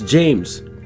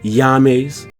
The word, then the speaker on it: James: Now, isn't it kind of unusual that we pronounce it King James? So when you see this I, everybody knows it's James. No one ever says Yames.